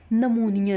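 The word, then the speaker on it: pneumonia: नमूनिया है। इसको लिखते हम पी से हैं, बट पी साइलेंट होता है, बट हम इसे पढ़ते क्या है? हम इसे पढ़ते हैं नमूनिया, ठीक है।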